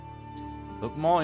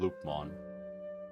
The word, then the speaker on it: Lopmon: How do you pronounce the name Lupmon? Lupmon? Lupmon? Or is it Lopmon? I guess it would be Lopmon, right? Because you don't have double O. So it wouldn't be Loop. It would be Lop.